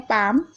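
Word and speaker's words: palm: जैसे कि देख रहे हैं पाम, यहाँ पर देखिए एल पहले आ रहा है उसके बाद एम आ रहा है तो यहाँ पर साइलेंट है एल।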